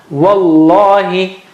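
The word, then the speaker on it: وَاللَّهِ: You don't say wal. No, because you have to help that lam. So you join it, you skip mad. Wallahi.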